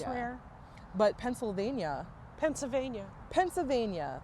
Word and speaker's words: Pennsylvania: yeah it's rare but Pennsylvania Pennsylvania Pennsylvania there's no well in it p n n s a v a n i a Pennsylvania Pennsylvania and that's one